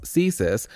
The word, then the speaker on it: CSIS: canadian security intelligence services the canadian security intelligence services pronounced csis is canada's spy agency csis